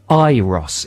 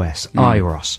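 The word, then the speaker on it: Euros: on the weekend and it said in Brackets pronounced iros e ye e- r o iros so I've been thinking right good the definitive answer I'll pronounce it iros that's what I've been doing but then uh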